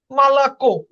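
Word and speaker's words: молоко: দেখেন মালাকো, দেখেন এখানে লাস্টে মালাকো, কেও লাস্টে কিন্তু জোর পড়তেছে বা স্ট্রেস কে ওর উপরে।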